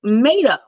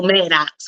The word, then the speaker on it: Maddow: But okay, that is Rachel Maddow. The X is silent. I know Maddox when I'm looking in. Maddow. People know I'm not. It's Maddow. Maddow. Maddow. Wow, this had a W at the end.